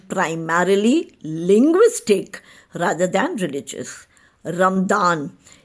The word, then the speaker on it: Ramadan: Ramadan is the Arabic pronunciation and spelling, while Ramzan is the common pronunciation in the Indian subcontinent, Persia and Turkey.